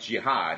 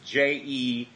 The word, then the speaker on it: Jehad: I might have said it wrong because it's not spelled like jihad. It's Jehad. Okay. Yeah, it's not Jihad.